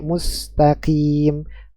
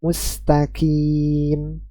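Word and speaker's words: مستقيم: EQ memantul ketika sukun ada yang membacanya tertukar antara huruf qf dan Kaf sehingga mustaqim yang seharusnya dibaca dengan huruf q malah dibaca dengan huruf ka mustqim mustaqim ya Ini juga suatu kekeliruan ya kemudian terakhir huruf mim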